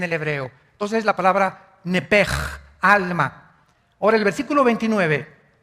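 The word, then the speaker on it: nephesh: Entonces se pronuncia nepj.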